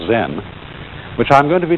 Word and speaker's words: Zen: Zen, of course, is a Japanese word, and it's spelled Z-E-N. And that is the Japanese way of pronouncing the Chinese word Chan. And this, in turn, is the Chinese way of pronouncing an Indian Sanskrit word, jnana.